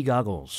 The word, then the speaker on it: goggles: 그러니까 고글이 아니라 발음이 약간 가에 가깝습니다. goggles 이렇게 말해요.